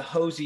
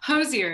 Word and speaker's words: Hozier: about the um the hosie europe tour is am i saying it correctly correct it's like cozier but with an h that's what he says